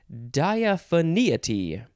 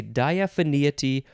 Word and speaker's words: diaphaneity: here this first one diaphania tea actually well yeah you can say diaphania tea or diaphania tea diaphanity or diaphaneity d-i-a-p-h-a-n-e-i-t-y noun from